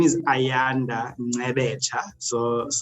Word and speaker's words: Ngcebetsha: Yeah, so my name is Ayanda Ngcebetsha. So it's a Nguni surname, of Xhosa origin in South Africa. So it's Ngcebetsha.